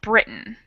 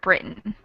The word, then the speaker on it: Britain: But I think what you're trying to say is that that last syllable is really different. We have A, that long A sound, and then in Britain, we almost cut the vowel out entirely.